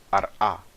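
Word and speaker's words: ארעא: A palavra eretz em hebraico é pronunciada ar-a em aramaico, tá bom?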